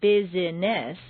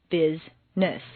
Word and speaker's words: business: For example, business is not bizess, but rather business.